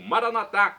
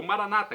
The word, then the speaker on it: Maranata: aramaico dialeto de Jesus eu clamo maranat como dizemos nós católicos ou Maranata como dizem nossos irmãos separados os evangélicos ou protestantes não importa a pronúncia o significado é o mesmo vinde Senhor Jesus um